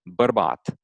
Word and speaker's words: bărbat: B, like for example, the word for man in Romanian is bărbat, right? Like b, like bărbat. To me, it sounds kind Verbat. of like strong, like a strong B.